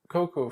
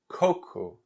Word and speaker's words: coco: the class about fruits, the cocoa fruit needs to be pronounced with the cocoa emphasis in the beginning of the word. Because if you do coco or something like that, that's similar to the word poo-poo in Portuguese.